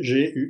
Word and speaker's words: Guibert: Sans L, c'est Gilbert Gilbert.